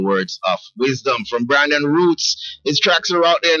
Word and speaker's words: Rootz: it's the way it's spelled b r a n d o n and then the roots part is spelled r o o t z z so I'm just